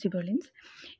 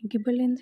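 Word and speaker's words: gibberellins: अब बात करते हैं सेकेंड हार्मोन की, दैट इज जिबरेलिन्स। ये गिबरेलिन्स या जिबरेलिन्स, जो भी आप कुछ ऐसे भी प्रोनाउंस करना आप कर सकते हो।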